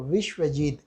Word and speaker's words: विश्वजीत: जैसे उत्कल प्रदेश या बंग प्रदेश में प्रायः देखा जाता है कि व का उच्चारण ब की तरह होता है। ब का उच्चारण स्थान क्या है, ओष्ठ, और जबकि व का उच्चारण स्थान इन्होंने बताया आचार्य दंतोष्ठम, यानी व में ऊपर वाला दंत और नीचे वाला ओष्ठ, यहाँ से उच्चारण होगा व।